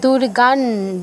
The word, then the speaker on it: দুর্গাং: না না, দুর্গান দন্তন্য হসন্ত উচ্চারণ হবে, কারণ পরে ত আছে, তয়রফুল্লার ত আছে, তো ত বর্গীয় অক্ষর থাকলে তথ দধ ন এই 5টা যদি অনুস্বারের পরে থাকে, সেই ক্ষেত্রে অনুস্বারের জায়গায় নয় হসন্ত উচ্চারণ করতে হয়।